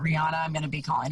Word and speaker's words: Rihanna: listen to beyonce or rihanna it's actually rihanna i found that out um but i'm i'm